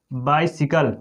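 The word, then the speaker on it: bicycle: अब देखेंगे इसका अगला है उच्चारण ई, छोटी जैसे बाइसिकल, बाइसिकल, उसको साई नहीं पढ़ते हैं, बाइसिकल।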